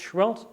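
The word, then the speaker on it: Seheult: You know, Roger Schwell, this guy I'm talking about, that's how he spells his name, by the way, C-H-W-E-L-L-T, if in case you're not sure, but it's pronounced Schwellt.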